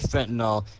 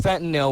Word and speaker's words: fentanyl: or heroin is fentanyl it's pronounced fentanyl we all say that now but it's fentanyl and they think they're